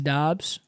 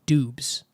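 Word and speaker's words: Doubs: Any word that's OU should be ooh. Through. THROUGH. So phonetically, that should be Doobs. So it is Dobbs, okay?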